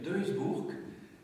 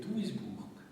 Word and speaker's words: Duisburg: as dit deburg hein alors que c'est en Allemagne donc c'est douisbourg Duisburg deburg tu l' prononcé à la flamande et là il fallait prononcer à l'allemande voilà c'est un détail bien sûr hein mais on dit pas deburg en allemand dit d'isburg ça va alors je